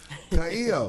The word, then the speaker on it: Ka'io: put in say all our shows up there Kao Welcome to our show Aloha thank you for having me am I pronouncing it right you are okay yeah I